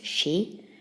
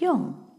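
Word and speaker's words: 四: well four of course there are two way is a pronouncing four in Japanese she and Yong okay let's draw the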